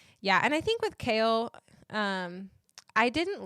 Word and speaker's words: Chaol: That's the only thing I heard when I heard someone say his name is Kale. I was like, like the vegetable?